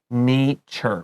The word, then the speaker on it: nature: noun of natural zuran we say nature with a long a change natural nature that's right all right our